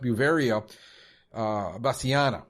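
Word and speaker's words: Beauveria bassiana: biop pesticide is is I think it's pronounced buia uh basana which is the the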